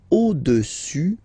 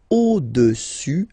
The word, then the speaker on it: au-dessus: Le cube est au-dessus du cylindre. So let's repeat it. Le cube est au-dessus, final S not pronounced here, au-dessus du cylindre.